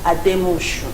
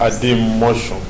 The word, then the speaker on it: Ademoshun: all those things let us meet honorable pinga at the motion yes let me correct the name you have no pronounced very well my name is as the motion no okay say is possible yeah so I